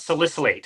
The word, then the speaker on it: salicylate: so I did want to ask you about salicylate first of all did I say that correctly